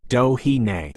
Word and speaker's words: Doheny: Doheny is pronounced Dohine.